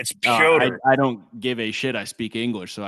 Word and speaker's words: Petr: It's not Peter. His name is not Peter. It's Per.